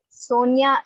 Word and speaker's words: Sonia: Sonia is two syllable, right now? Sonia. Yes, two syllables. Okay. But now यहाँ पे so नहीं आ जाता है ना ma'am, so I think it should so be three nya. syllables.